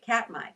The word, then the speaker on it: Katmai: Katmai.